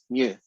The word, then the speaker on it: mu: now because that's a census the symbol that i use for the mean is mu right it's pronounced m u new and that is the symbol that you use